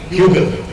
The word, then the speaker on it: hygge: Say with me, hygge. It's spelled Hygge.